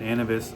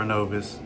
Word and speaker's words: Innovis: We need your SageStream, Clarity, and Innovis or Innovis. It can be pronounced either way.